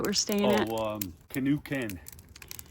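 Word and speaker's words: K'esugi Ken: Oh, um, canoe ken. Canoe ken.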